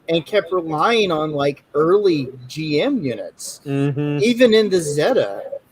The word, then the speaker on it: GM: I call it the GM, but I think in Japan they call it the GIM.